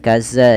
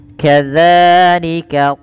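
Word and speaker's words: كذلك: Hati-hati dalam melafalkan za jangan dibaca dengan kaza jika sering terjadi sekali itu menggantinya dengan zat padahal ya bukan. Bagaimana cara membacanya? Ujung lidah nempel dengan gigi seri atas dza.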